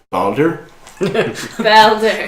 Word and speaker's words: Boulder: So he's from Boulder. It's pronounced Balder. Balder.